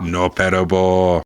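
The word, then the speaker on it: のっぺらぼう: Noppera-bō, yes.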